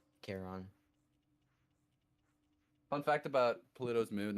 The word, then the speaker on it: Charon: Karen? Is it Karen? Is that Pluto's moon? Yeah, Charon.